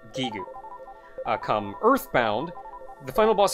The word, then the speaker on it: Giygas: gue or something but the original Japanese pronunciation was gigoo come earthbound the final